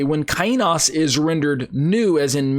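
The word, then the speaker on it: καινός: I pronounce it kainos.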